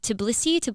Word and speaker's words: Tbilisi: the cast members and I was filming in Tbilisi, Georgia, which is outside of Russia. Is that how you pronounce it?